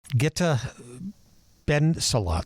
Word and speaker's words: Gitte Bendzulla: Back in the studio here in Nashville, Tennessee, Gitte Bendzulla.